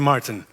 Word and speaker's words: Maarten: well do be aware there's two Martin's here and it's pronounced the same and it's super annoying